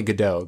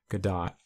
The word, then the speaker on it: Gadot: know the actual pronounce I think it's good die people say Godot Godot is not correct it's good dot I mean I really